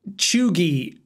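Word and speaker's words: cheugy: I mean, I'm going to assume that it's I'm going to say that chuggy. And people are probably like, it's pronounced chuggy, idiot.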